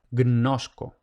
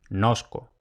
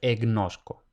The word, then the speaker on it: gnosco: Y luego esta secuencia en latín puede ocurrir al principio de palabra, eso en español no pasa, pero en latín puede ocurrir. En ese caso es aceptable pronunciar simplemente como si fuera una N. Lo que no es aceptable es introducir una E al principio. Por ejemplo, tenemos el verbo gnosko, lo ideal es pronunciar gnosco. Ahora, ¿qué no se puede? Pronunciamos nosco, no pronunciamos egnosco.